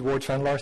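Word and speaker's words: Ward Vanlaar: automated for enforcements um my name is indeed Ward vanar thank you for pronouncing it properly I'm the vice president research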